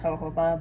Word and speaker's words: jojoba: of a base oil like jojoba or jojoba. For those of you who don't know, it's actually pronounced jojoba, but we're American.